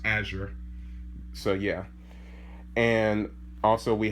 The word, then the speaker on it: Azure: to be thinking that it seems like it will be pronounced Azure, but if people have been saying Azure, they've been saying it wrong. It's actually pronounced Azure.